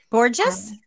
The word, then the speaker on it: Borges: And on the screen here, last name, B-O-R-G-E-S, for those that maybe just be listening. Borges? Did I say it right? Yes, Borges. Yes, you did.